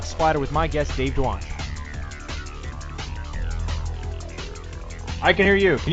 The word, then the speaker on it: Dwonch: Dwonch. Dwonch. Okay. Dwonch. Yep. Yeah, it's actually exactly the way it's spelled, and it's a fake name.